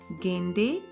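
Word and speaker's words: गेंदे: Marigold is known as Gende ka phool. So here the pronunciation of D is not D but the, as in the case of THE, the or them or then. So not Gende ka phool but Gende ka phool.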